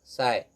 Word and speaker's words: psi: is, here it is represented by the symbol pronounced as psi.